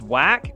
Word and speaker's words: Wach: It's pronounced whack. Oh, that's great. His name is Marius Whack.